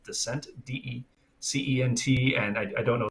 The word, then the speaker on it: Decent: right now it's uh it's spelled decent uh i think it's pronounced descent d-e-c-e-n-t and i don't